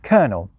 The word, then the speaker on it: colonel: Take coronel, add a few centuries of lazy English speech and shifting fashions, and you end up with colonel.